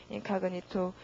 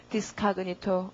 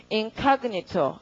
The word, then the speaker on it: incognito: 이거 나중에 표제어 되고 강세가 O에 있기 때문에 발음이 incognito 이렇게 됩니다. 여러분 읽어두세요. incognito.